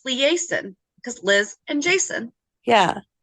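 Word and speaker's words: Liason: know how I'm saying it so I've been pronouncing it liaison because that's close to the spelling of the word liaison it's liaison oh for some reason it came up oh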